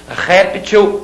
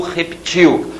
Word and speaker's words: réptil: Réptil ou reptil, uma forma de vida. Tá? Não é outra palavra, é a mesma palavra com uma variação de pronúncia. Réptil ou reptil.